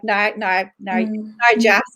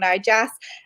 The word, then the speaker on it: Narjas: Graphics like Narjas, I said it wrong, Narjas.